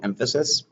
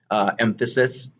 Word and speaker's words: emphasis: Emphasis, for those of you who don't know, it just brings attention to it. It's emphasis, not emphasis. Make sure you put the right syllable on the right word, please.